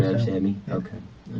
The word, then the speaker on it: Ramsawmy: Ramsawmy, the W. Ramsawmy.